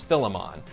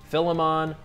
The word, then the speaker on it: Philemon: For starters, there's a bunch of different ways to pronounce Philemon. I once looked it up in four different Bible dictionaries and got four different answers. Philemon, Philemon, Philemon, and Philemon. So have your pick.